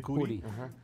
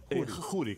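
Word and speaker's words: Khuri: De la familia Curi, aquí dicen Curi. Pero se dice Juri, con KH se pronuncia Juri, sí.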